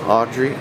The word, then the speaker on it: Audrey: accent Audrey I say Audrey yeah how do you say it that's not how you introduce in Fr it's audre how do you what's